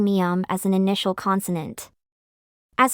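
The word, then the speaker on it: 미음: consonant as a result when Koreans pronounce the initial consonant mium Learners of Korean tend to hear the bilabial sound biop which has the same place and manner of articulation rather than the nasal consonant mium I will attach a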